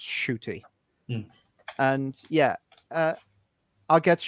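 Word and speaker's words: Ncuti: it by the way it's n-c-u-t-i but it's pronounced shooty and yeah uh i'll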